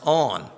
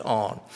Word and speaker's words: On: discovered that it's pronounced on you know big deal right I thought surely this little two-letter word has to have some real weird pronunciation but it doesn't it's just on so um the Jewish